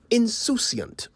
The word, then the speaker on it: insouciant: This is one of those words the English inherited from the French, who spell it the same way but pronounce it insouciant.